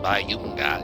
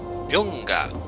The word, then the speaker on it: Byunga: Also, the guy's name is not Bayunga, it's Byunga.